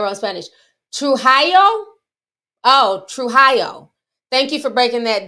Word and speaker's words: Trujillo: And I was saying the thing, wait, how you pronounce it? Somebody wrote in Spanish. Trujillo? Oh, Trujillo.